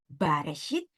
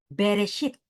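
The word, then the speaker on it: בראשית: 1 ayat 1 ini orang Ibrani tidak membacanya dengan baresit tetapi membacanya dengan beresit dan kata beresit ini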